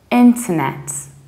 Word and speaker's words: internet: say in care but you say into so you need to reduce this to the ball and then you stress net internet whereas in the American accent you say enter pronouncing very strongly read we're still reducing middle syllable in term and stressing naps internet but many Americans so